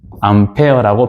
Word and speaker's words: 암페어: 앙베르는 프랑스의 물리학자라고 다시 얘기했죠. 그리고이 사람의 이름을 따서 전류에 다닌 암페어라고 발음한다 그 말이에요.